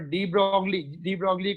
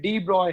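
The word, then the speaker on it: de Broglie: Of this second postulate, but डी ब्रॉगली को हम लोग डी ब्रॉगली पढ़ते हैं, बट एक्चुअल में डी ब्रॉय है. Is actual pronunciation is डी ब्रॉय. GLE last में साइलेंट है, डी ब्रॉय.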